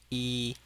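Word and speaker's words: 一: So the first one is number one and is the first tone.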